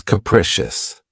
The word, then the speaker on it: capricious: of my favorites, is capricious. This word has three syllables and the stress is on the second syllable. Keep in mind that the first syllable has that schwa sound krecious. Capricious.